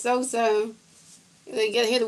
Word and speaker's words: Sosa: You spell it wrong anyway. Yeah. Zoom. It's Sosa. You got to hear the words I say. Sosa.